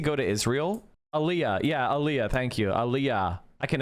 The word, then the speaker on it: Aliyah: Yeah, Aliyah. Thank you. Aliyah. I can never pronounce that shit.